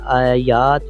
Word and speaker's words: Ayat: आज की इस वीडियो में बात करने वाले हैं आयात या आयात नाम के बारे में, या कह लें आयत नाम के बारे में।